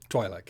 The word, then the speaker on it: Twi'lek: party who is a morally good, is it pronounced Twi'lek or Twi'lek? Twi'lek, yeah.